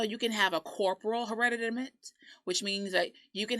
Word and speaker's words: hereditament: And our word for the week in that vein is, make sure I can say it right, hereditament. Hereditament. It's a T, but it sounds like a D.